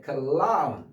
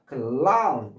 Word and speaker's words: clown: 그다음에 R이 L로 된 클라운 입천장에 혀가 붙으면서 clown 클라운 여기는 붙으면 안 된다고 그죠? 입천장의 혀가 붙으면 안 돼요. 이거는 붙어야 돼.